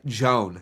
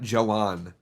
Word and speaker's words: Joan: And I'll actually pronounce his name right. Joan, not Joanne.